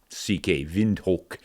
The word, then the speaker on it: Windhoek: It's spelled wind, Hoeck, Windhoek, but they pronounce it Windhoek, the locals.